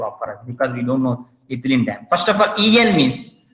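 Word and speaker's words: ethylenediamine: So, but when you're pronouncing that one, don't pronounce EN. You have to call that one ethylene diamine.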